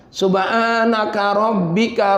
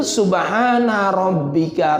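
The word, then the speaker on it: سبحان ربك: Subhanaka rabbika rabbil izzati amma yasifun. Itu salah fatal. Yang benar itu Subhana rabbika rabbil, karena itu Al-Quran.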